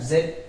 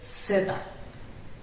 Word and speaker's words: zeta: It is not Z, Zeta.